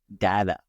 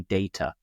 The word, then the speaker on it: data: There's another thing that I've just remembered now when you said it, that in American English, the pronunciation is data, right? And in the UK, we say data.